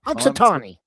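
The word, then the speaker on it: Punxsutawney: pon how do you say that town ponatani ponatani but there is wirein willy Willie we have in Canada and Willie actually predicted an early spring so he totally went against pansi ponatani Yeah, totally against him.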